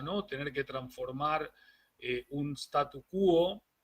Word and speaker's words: statu quo: Tener que transformar un statu quo. Vamos a recordar que no se dice status quo en español, sino que en latín es status quo es en inglés.